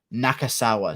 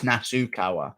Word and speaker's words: Nasukawa: Nakasawa, sorry.